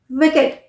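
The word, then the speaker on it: wicked: एंड हो रहे हैं पर अगर एडजेक्टिव है वर्ड एडजेक्टिव है और वह ईडी से एंड हो रहा है तो उसे हम इड प्रोनाउंस करेंगे जैसे विकेट विकेट डब्लू आई सी के ई डी विकेट naked naked okay naked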